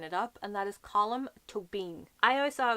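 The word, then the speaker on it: Colm: and cab column is column not calm column is two syllables but like four letters column and then to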